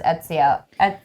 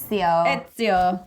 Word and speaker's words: Ezio: only assassin that I know how to say for sure is Ezio. Ezio.